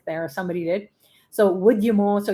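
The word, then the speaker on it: Udyamo: or somebody did so would you more so u-d-u-d-y-a-m-o is like wood as in w-o-o-d so would you mo is how you say it or would would you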